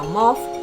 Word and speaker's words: mauve: It's a glittery metallic dual chrome that comes with a mauve, mauve or mauve, whichever you want to pronounce it, with flakes of gold.